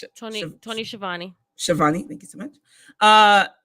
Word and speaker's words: Schiavone: I always get his name wrong. Tony Schiavone. Schiavone.